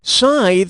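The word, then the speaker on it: scythe: which of these works does this word rhyme Pizza Lethe tithe or Roth keep size rhymes with tithe but I still like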